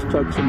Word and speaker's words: Tucson: Hey, it's spelled T-U-C. That's S-O-N. That's Tucson to me.